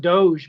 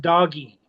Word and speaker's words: doge: It was pronounced doggy. Oh, really? E was pronounced doggy. Doggy. The D O G E was doggy. It was a cutesy way to pronounce doggy.